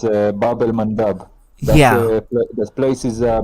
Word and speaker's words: Bab el Mandeb: It's Bab el Mandab.